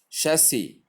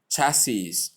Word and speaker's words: chassis: Chassis. The sh sound, the short A sound, the S sound, and the short E sound. Error. Pronounced as chassis or chassis.